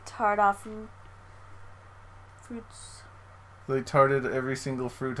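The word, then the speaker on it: tarte aux fruits: Ox fruits. Is that how you say it? Tarte? I think the X is silent, so it's like tart off fruits.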